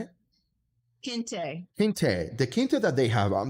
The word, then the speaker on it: kente: Well, let me tell you, if we take a look at what she's, you know, that Kenti, that's how you say it. Kente, the kente that they have, this is not kente that from the dollar store.